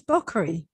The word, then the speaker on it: Bakri: It's Bakri. Bakri.